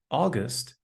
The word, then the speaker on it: August: Similarly, the au in August has the same pronunciation.